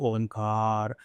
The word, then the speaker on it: ओम: कौन से तरीके से ओम को प्रोनाउंस करना चाहिए? वैसे इसके तीन चरण करना चाहिए। अ ओ म अकारा जो है वह छोटा होना चाहिए। अ फिर ओ रहता है उससे बड़ा होना चाहिए।